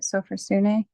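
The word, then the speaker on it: sophrosyne: Sophrosune?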